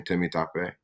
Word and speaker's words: Temitope: dad is from Legos Nigeria hence the name Timmy tape which you did a great job of pronouncing well done Matt well done I practiced